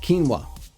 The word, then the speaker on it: quinoa: It's pronounced quinoa.